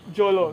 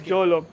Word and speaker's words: Jolo: How do you pronounce that, by the way? JOLO. So it's JOLO.